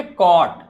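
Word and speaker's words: caught: it, CAU कॉ, GHT को हमेशा GHT नहीं, GH को प्रोनाउंस नहीं करना है, क्या बोलेंगे? ट। तो क्या बोलेंगे? कॉट।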